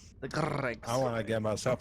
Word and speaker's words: Greg: So I've seen too many say it as GR-eggs, and I get pissed off every time. There's no way Greg. anyone that wasn't from Louisiana did that. Correct. The Gregs.